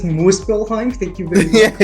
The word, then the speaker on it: Muspelheim: It's pronounced Muspelheim.